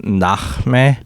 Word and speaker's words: Nahme: so my name in Arabic, my name's actually pronounced Nahme, but Got you. Americanized version. it's an Americanized version.